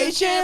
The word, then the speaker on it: Etienne: He like just a few days ago was like, yeah, y'all been saying my name wrong the whole time. Because we all say Etienne.